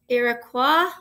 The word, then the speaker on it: Iroquois: about it in the life of the iroquois iroquois i'm going to say it right and because